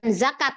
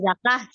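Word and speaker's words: زكاة: Atak gitu ya Iya bukan zakat ya zakat zakat Bahasa Indonesia Itu bahasa Indonesia ggak kenal Tamar jadi dia dibacanya Walaupun dia disun ya huruf ba ya zakah Jadi kita bayar zakah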